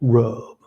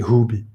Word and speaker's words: rub: Thankfully, in English, it's only one syllable, rub. The bad news is you want to say hubi.